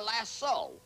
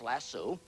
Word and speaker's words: lasso: a lariat or a lasso l a double so often mispronounced lasso how can a cowboy